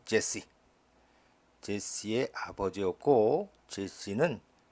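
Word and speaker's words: Jesse: 오벳은 제시 우리 성경에는 2세라고 나오죠 어 영어 발음은 제시 제시의 아버지였고 제시는 킹 데이빗 다윗왕의 아버지였다 데이빗은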